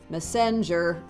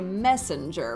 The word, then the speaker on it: messenger: But things are being stressed improperly. We don't say heaven and we don't say messenger, we say messenger, right?